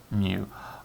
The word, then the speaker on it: mu: sample and the greek letter mu so that's pronounced mu both of these symbols indicate the mean but